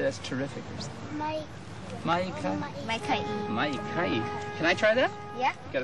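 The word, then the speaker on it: maikaʻi: Maikai.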